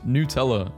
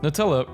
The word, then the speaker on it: Nutella: Americans pronouncing it Nutella, as if it were actually made from hazelnuts. Nutella. What is Nutella hazelnut spread? Nutella pronounced Nutella. Ahem. Wait, is this true? It's not Nutella?